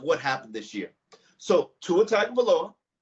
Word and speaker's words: Tua Tagovailoa: So Tua Tagovailoa, said it right, Dave.